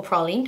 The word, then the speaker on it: praline: is in the shade praline or Prine depending on how you pronounce it because I am super